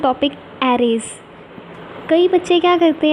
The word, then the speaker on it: array: तो नाउ वी are discussing the topic एरेज। कई बच्चे क्या करते हैं, एरेज को गलत प्रोनाउंस करते हैं, वो अरे कहते हैं। अरे नहीं, इसे हम एरे कहते हैं।